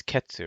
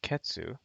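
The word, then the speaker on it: 結: different color actually hello the pronunciation is ketsu but when you conjugate words that have this guy in it when you conjugate kanjis with that in it then it actually becomes a small tsu and it becomes this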